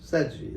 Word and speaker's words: Sedghi: Seji. Sedghi, that's right. Now you Sedghi. said it right.